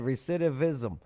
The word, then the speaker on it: recidivism: Recidivism. Uhhuh. Why is it tough to say? There's a lot of Because the C and I make an S sound.